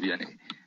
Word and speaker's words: Vianney: In French, it's pronounced Vianney.